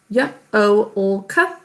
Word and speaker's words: yolk: Y-o-l-k. Shatish, could you tell us the markings? There's only one marking, that is double underline the L.